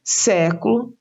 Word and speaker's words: século: Vejam os exemplos: próximo, século e época. Então, próximo está acentuada a antepenúltima sílaba, pró. Século, antepenúltima sílaba, sé.